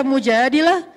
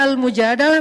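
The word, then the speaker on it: المجادلة: curhat kalau almujadalah curhat Jadi tergantung kita bacanya Dilah atau dalah kalau kita baca Mujadilah berarti perempuan yang lagi cur curhat kalau kita baca almujadalah berarti curhat itu sendiri surah almujadalah berkisah tentang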